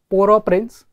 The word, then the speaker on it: Port-au-Prince: So this place, basically it is pronounced, it's a French word. Okay, Port-au-Prince.